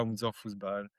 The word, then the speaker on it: Unser Fußball: Mais merci pour l'accueil et c'est très bien prononcé, c'est bien Unser Fußball.